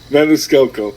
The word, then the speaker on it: Maniscalco: I'm glad you said it first because I can never pronounce his last name. Maniscalco.